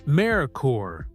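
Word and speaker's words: Merkur: Based on the Ford Sierra from Europe, it was imported under the newly created Mercur pronounced Marore brand which aimed to offer premium Euro inpired vehicles through Lincoln Mercury dealerships.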